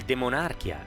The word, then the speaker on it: De Monarchia: E nel demonarchia, secondo la pronuncia latina, testo di grande coraggio